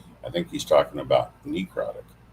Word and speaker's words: necrotic: So it's necrotic, not necrotic. It doesn't matter whether it's knee or nut, but I didn't hear